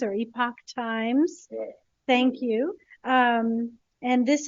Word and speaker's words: Epoch Times: newspaper I don't know how to say it Epic Times or Epoch times thank you um and this is in relation